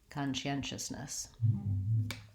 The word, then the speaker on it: conscientiousness: alarmed it is difficult I would start with the stressed syllable and build from there so I do n